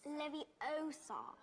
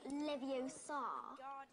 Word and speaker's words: Leviosa: someone's eye out besides you're saying it wrong it's Leviosa not Leviosa you do it then